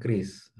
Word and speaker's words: QRIS: mulai moving ke arah kris. Bacanya kris ya, QRAS. Ini kris, kayak kris pisau tradisional, ini kris.